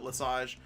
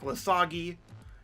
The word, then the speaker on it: Lesage: I pronounce it Lesage. I've been called Lesage. I've been called Lesagi.